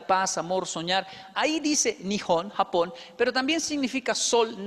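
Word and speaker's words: 日本: se japón en los tres tipos de escritura nihon así se pronuncia gijón tiene atrás sus curvas el de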